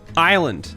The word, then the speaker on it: island: Island. The S is silent.